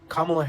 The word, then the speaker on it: Kamala: progressives is absolutely insane it's a six-letter name pronounce it correctly kamla Harris like you guys sit here and wonder